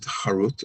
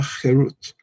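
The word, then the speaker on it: חֵרוּת: Do not pronounce it harut as carved, but rather herut as freedom, for they have been liberated from the angel of death.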